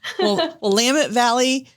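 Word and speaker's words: Willamette: wine recommendations from um now again I always mispronounce it Willet wamit wamit Valley wamit Valley Oregon um coming to you from uh from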